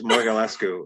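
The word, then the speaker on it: Mogulescu: James, help me pronounce Kate's last name because I can never pronounce. I'm going to butcher it too. It's Morgalescu.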